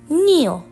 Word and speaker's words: kneel: uh sitting down on your knees you're kneeling kneel n and E hm oh it makes need